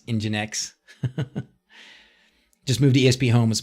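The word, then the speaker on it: nginx: up and everybody told me finally how to pronounce engine X just move DSP home is much much faster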